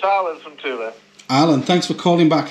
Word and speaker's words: Thule: either but it's uh t double o l double e is the correct way to do it exactly fantastic well thanks